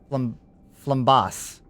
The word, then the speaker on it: Flambas: Flambas. Flambase. Flambase? Flambas? Just call his on. Fair enough. Like a boss. It's like bass. So flambas.